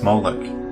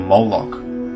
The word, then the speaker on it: Moloch: The MLK is vocalized as Molech, or Moloch, in the Masoretic texts, which is an authoritative text in Rabbinic Judaism. It's from this pronunciation that we get the contemporary name Moloch.